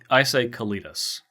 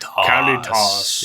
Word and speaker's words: Kalitas: I first of all, I say Kalitas, just because people are going to be wondering.